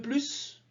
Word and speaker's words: plus: qu'il ne le dit quand le mot plus est en fin de phrase affirmative il doit toujours être prononcée quand c'est le dernier